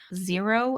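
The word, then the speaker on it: Xero: So you can use wave is one, zero is one, and I think it's spelled X E R O where they're a little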